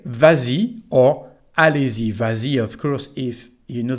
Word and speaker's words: vas-y: s it's like that so we say vazi and we write VA with a final s even if the conjugation